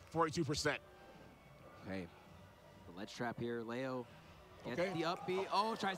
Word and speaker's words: MkLeo: I'm Leo. That's how you pronounce his name. Leo. I kept saying Leo. It's Leo. MkLeo.